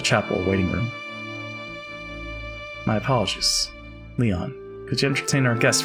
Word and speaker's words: Lion: the heck were you it's written as but pronounced Leon oh Leon I guess it is a bit